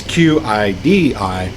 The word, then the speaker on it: Qidi: Some people say Qidi. It's Qidi.